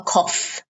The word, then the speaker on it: cough: puff what is the cough that is a cough notice the pronunciation um it's spelled c-o-u-g-h but the pronunciation is c-o-f cough simple cough and